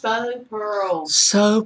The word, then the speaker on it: faux: Faux pearls. It's faux pearls. Faux pearls. I'm just giving y'all. Faux is pronounced faux.